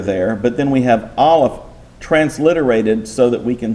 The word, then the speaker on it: aleph: And if you will notice, I have no equivalent to aleph because it's a silent letter in Hebrew.